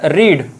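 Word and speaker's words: read: speak spoke spoken and रीड पढ़ना ये spelling तो सेम रहेगा लेकिन इसका प्रोसेशन करेंगे रेड ठीक है रेड रीड रेड रीड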